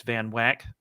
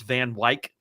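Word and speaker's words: Van Wyck: When I was a kid, everybody I knew called the place Van Wack. Apparently, they decided to incorporate and when they did, they decided to adopt a ne official pronunciation. That's Van Wik.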